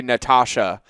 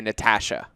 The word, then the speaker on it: Natasha: So Americans say Natasha and Canadians say Natasha.